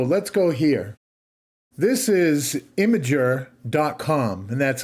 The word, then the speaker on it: Imgur: out there so let's go here this is imager Doc and that's Imgur I know that's how you pronounce it because I asked Google this is